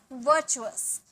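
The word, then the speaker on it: virtuous: पुण्य, वर्चुअस, वर्चुअस, आर का sound यहाँ भी नहीं आएगा, वर्चुअस, वर्चुअस, इसे चू बोलेंगे, ठीक है, वर्चुअस मतलब पुण्य।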